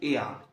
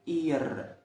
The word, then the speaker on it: er: في يعني حرف الاغ اللي في الاخر ده ما بيتنطقش. تمام. فتبقى في. حاجه كمان، الضمير اللي قدامك ده اسمه ايع. ايع هو الظاهر قدامك بالمتشقلب، فانت ممكن تكون عارفه اسمه ايع. بص، في الاول بنقوله اير.